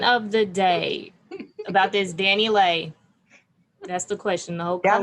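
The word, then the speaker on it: DaniLeigh: it is Danny Lay. You gotta pronounce it the white Latino way. Lay. Danny Lay. She's still gonna be Danny Lee shit.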